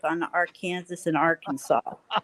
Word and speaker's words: Arkansas: and if you ask a Kansan whether it's the Arkansas River or the Arkansas River they're going to tell you it's the Arkansas River and if you call it the Arkansas River here you're in deep doo doo I never really thought